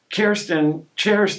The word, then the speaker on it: Cherston: Cherston actually is the proper pronunciation.